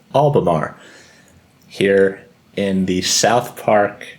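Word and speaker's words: Albemarle: Um, so I looked up the pronunciation and we're going with Albamar here in the South Park Metro Complex just south of the Charlotte downtown in North Carolina.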